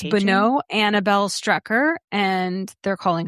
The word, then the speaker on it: Bonneau: It's Bonneau. That's what what it is. B O N N E A U Bonneau. going to say. Okay. So it's Bonneau Annabelle Strecker and they're calling her Bo.